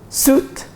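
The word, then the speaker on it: suite: ها جراج جراج جراج ودي بقى عشان خاطري سوت سوت بدله سوت سوت سوت الكلمه دي بقى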